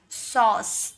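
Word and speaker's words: sauce: अ का साउंड आएगा तो हो जाएगा सॉस।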